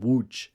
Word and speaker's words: Łódź: is crying in a town a city called Wu in Poland um spelled it's pronounced w l which is SLT w o